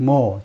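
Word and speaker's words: Meaux: now the mayor of Mo, 지금은 시장이시다. 모라는 도시의 시장이시다. 그렇죠? 예, 프랑스 쪽은 이 프랑스에서는 마지막 자음 발음을 하지 않습니다. 그래서 모라고 발음하면 되겠죠.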